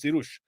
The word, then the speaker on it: Cyrus: Like Cyrus is Sirush.